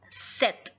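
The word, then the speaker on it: sept: seven it's called set set P is silent so it'd be pronounced as set eight in French it's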